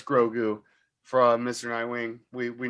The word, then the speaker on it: Grogu: know that it's called grogu you didn't have to spell it out like that what the hell he spelled out like grow like the word grow and the word do separately would somebody saying it